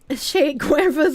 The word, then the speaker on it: Che Guevara: Che Guevara's a cool t-shirt. You guys are forgetting the R. That's like the only word I actually pronounce the R in.